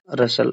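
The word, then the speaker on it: rustle: रसल, यहाँ T silent हो जाएगा।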